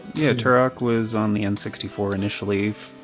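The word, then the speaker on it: Turok: I believe that is Oh, Tur Rock. Tur Rock. Yeah, you're right. It's Tur Rock.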